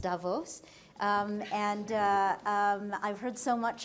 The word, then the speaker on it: Davos: my first trip to Davos I've understood it's pronounced Davos and I've heard so much about this and